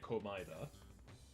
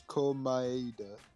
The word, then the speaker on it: Komaeda: So it's Komaeda. No, it's Komaeda. Komaeda. Komaeda. They're saying... Komaeda. Mm-hmm. Well, Oppressed Ego was saying that the Komaeda. people who pronounce it in English, in the English version, say Komaeda, with the Yeah.